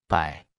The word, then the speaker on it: 百: 百。百。百。百。百。百。百。 Se pronuncia con el tercer tono.